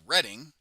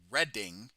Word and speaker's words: Reading: Just like Reading is called Reading, even though it's spelled Readn. I'm sorry, Reading. Right. It looks like reading, as if I am reading a book, but it is Reading.